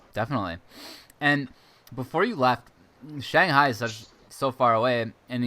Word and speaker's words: Shanghai: actually which is great Shanghai I mean that's like the correct Chinese pronunciation but yeah definitely trip people in the west up they're a little different to say but you know people say Shanghai here too so you